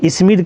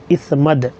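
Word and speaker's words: إثمد: اسمد سرما۔ سبحان اللہ۔ لوگ اسمد کہتے ہیں، اصل میں اس کا تلفظ ہے اسمد۔ اسمد سرما جو ہے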